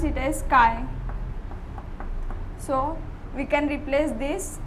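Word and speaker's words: χ: We represent mole fraction by the by x1, that is we pronounce it as chi.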